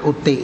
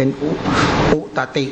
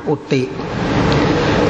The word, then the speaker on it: อุติ: นั้น ชื่อ ว่า อุติ อัน นี้ ต้อง อ่าน อุติ นะ เพราะ ว่า ตัว